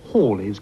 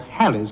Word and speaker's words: Halley's: is about to reappear in 1986 the correct pronunciation is Halley's Comet and not hell is Comet but that is the subject of the